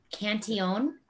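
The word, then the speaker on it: Cantillon: get your hands on cantion is one it looks like it's spelled cantillion cantion is one that comes directly out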